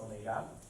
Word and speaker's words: omega: So omega, this W-shaped thing here is pronounced omega, is the symbol for angular velocity.